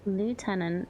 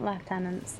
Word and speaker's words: lieutenant: Lieutenant is in the US. The other way of the UK, I think so. It's It's Yeah, I think left tenants normal. But it's also Why is it spelled the same? And why is it not left?